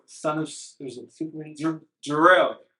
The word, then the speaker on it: Gerell: Gerell. So Gerell's how you pronounce it, and Superman, son of Gerell.